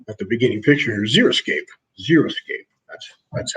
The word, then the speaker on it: xeriscape: idea with water at the beginning picture xeriscape zero skate that's that's how it's pronounced zero escapist but Lynette and it is